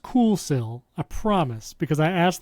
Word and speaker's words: Kuxiu: It's pronounced Coolsil, I promise, because I asked the brand and